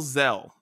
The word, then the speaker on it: Xxel: is uh by lil zell his name is spelled xxel i think that's how you say it but it's zell is how you say it xxell is gonna spell it but anyways the song